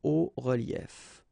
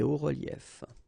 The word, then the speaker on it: hauts reliefs: it's quite simple, because S and S, but then we don't pronounce them here. Des hauts reliefs. Okay, un haut relief, des hauts reliefs.